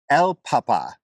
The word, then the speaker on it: el papa: what about this one El Papa Um Papa oh so there's no there's no Accent on this one there is no Accent on this one which makes it sound the same as this El Papa El Papa